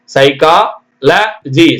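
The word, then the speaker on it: psychology: சைக்கா இக் இந்த ஹச் கூட சைலென்ட் மாதிரி இருக்கு சைக்கா ல ஜி சைக்காலஜி பிச் பிச் ல பி எஸ் ஒய் சிச்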